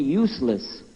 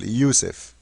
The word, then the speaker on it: Yusuf: we'll work on it my name is Yousef can you say Yousef say Yousef you're very good I wish you teach my wife she keeps mispronouncing it she calls me useless attention this is the